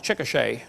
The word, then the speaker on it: Chickasha: 2005 textbook, and I pronounced it wrong, it's Chickasha, not Chickashaw, Chickasha, Oklahoma.